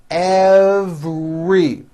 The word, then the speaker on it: every: Every has a very strong V sound followed by an R. Every.